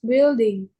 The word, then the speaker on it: building: This building. Building. This building height. This building height. Ya tadi height. Oh yeah. This building height is 6.21 meters. Ini cara baca buildingnya gini ya. Building. Jadi U-nya nggak dibaca.